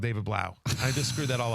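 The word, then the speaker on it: David Blough: I forget who made this tweet, but David Blau is how you pronounce it.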